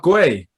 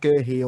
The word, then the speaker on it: Guéhi: So I say Mark Guéhi. Yeah, as well, like Mark Guéhi. So we've got three different pronunciations here. So we've got Guéhi, and I've said all season, I've been calling him Mark Guy. Mark Guy. Nah, that's just wrong.